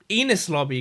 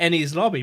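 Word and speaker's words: Enies Lobby: Lobby right but then I went to pronouncing it enus Lobby constantly and then I think people corrected me to en's lobby but is it the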